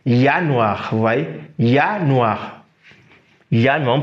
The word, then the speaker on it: Januar: Lorsqu'on prend par exemple janvier, nous sommes en janvier, donc janvier en allemand, on prononce ça Januar, vous voyez, Januar, on prononce ça Januar.